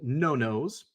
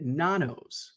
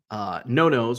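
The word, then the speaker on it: Nonno's: So we went to a little Italian restaurant called Nono's. And I, silly American, I was always pronouncing it Nanos because it's spelled N-O-N-N-O-S.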